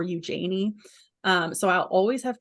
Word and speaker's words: Eugenie: joke on my page because Eugenie is a very British way of pronouncing it in the French you might say Eugenie um the general British population pronounces it as Eugenie sometimes or Eugenie um so I'll always